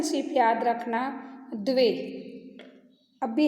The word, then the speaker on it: द्वे: Student, pronunciation सिर्फ याद रखना, द्वे।